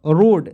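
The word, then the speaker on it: road: से होता है दोस्तों र लिखेंगे और ओ आएगा तो उसको जाना ओ के रूप में और ए को साइलेंट कर दीजिए डी से ड रोड देखिए ना कितना सिंपल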